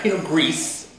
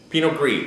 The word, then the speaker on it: Pinot Gris: The Helfrich 2007 Pinot Gris, not Pinot Gris. Pinot Gris. The S is silent.